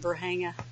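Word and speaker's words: Varginha: And it was Dr. Lear that taught me how to say it, Verhanga.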